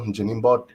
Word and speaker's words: Njinimbot: Again, my name is Njinimbot, and the N is silent. In my last name, it's not pronounced.